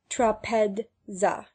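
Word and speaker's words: τράπεζα: Zeta is made up of ds and is to be pronounced accordingly. Thus trapeza is pronounced trapedza.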